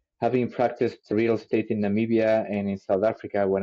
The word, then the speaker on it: Namibia: Africa, and then you said, I'm going to pronounce it Namibia. Yeah. Namibia.